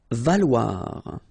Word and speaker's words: valoir: Valoir. So remember, when you combine this O and E together, you get the sound wa.